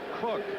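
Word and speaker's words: Koch: heat 74 rookie Marcus cook K pronounces his last name cook from boyy State he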